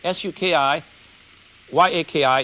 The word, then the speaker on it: sukiyaki: try and make good tsukiya this is not sookie they tell me it's kiyaki s-u-k-i y-a-k-i is pronounced sukiyaki so we want about three tablespoons